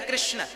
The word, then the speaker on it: कृष्ण: शुद्ध उच्चारण इसका क्या है? हरे राम हरे राम राम राम हरे हरे हरे कृष्ण हरे कृष्ण कृष्ण कृष्ण हरे हरे।